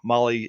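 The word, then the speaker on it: Mahle: And you guys know Molly is spelled M A H L E.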